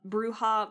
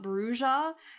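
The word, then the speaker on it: Brujah: was like what what I believe it's officially pronounced bruha at least all the other games have been pronouncing it bruha so but like that's crazy brua almost sounds like bruise.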